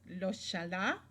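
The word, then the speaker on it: ojalá: the pronunciation of this loala it sounds kind of Arabic right and it's because it comes from the Arabic notice the ending Allah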